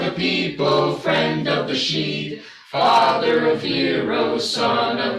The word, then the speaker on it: Sidhe: That's why It rhymes with C. I was like sitting there going, People see? usually mix it with Sidhay.